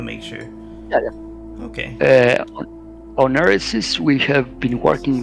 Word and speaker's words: Eresys: How long have you been working on Eresys? Am I pronouncing the title correctly? I want to make sure. Yeah. Okay. On Eresys, we have been working like 1 year and 8 months.